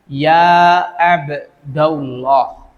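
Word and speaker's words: يا عبد الله: Abdurrahman Abdul a Aziz Maka kalau di ada huruf midanya maka dibacanya ya abdallah huruf ya abdallah kita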